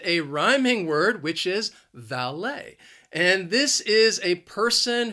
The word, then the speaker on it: valet: cars they are the valet the word has two syllables the stress is again on that second syllable and the problem is the same that l-e-t is pronounced lay valet valet parking is five